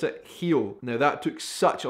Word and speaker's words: Rio: Brazil obviously you guys do not pronounce it real you pronounce it heel now that took such a long time the